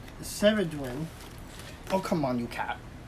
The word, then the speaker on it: Ceridwen: I think this Welsh goddess is pronounced Ceridwen.